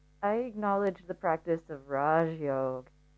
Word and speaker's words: Raja Yoga: acknowledge the practice of Raj Yoga, or Raja Yoga as we pronounce it in the West, which is the royal yoga, which means that we are actually looking at our psychological state.